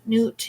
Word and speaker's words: Nut: right four of air water air for their nut egyptian goddess of the night sky until the dawn rests as a star in my body not pronounced newt newt is the goddess egyptian goddess of the night